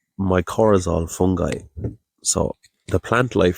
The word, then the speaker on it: mycorrhizal: So, I believe it's pronounced mycorrhizal fungi.